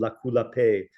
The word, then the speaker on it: Lakou-Lape: is an organization called Lakou-Lape, and I'll spell that. I mean, it's Lakoulape. So Lape, like it's Creole for peace, as you would have la paix in French, but in Creole it's Lape.